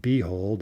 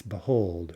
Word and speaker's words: behold: And here it's not behold, it's behold, right? Behold, stress on the second syllable.